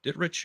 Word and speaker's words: Dittrich: Dittrich, I believe that is the way you pronounce his last name.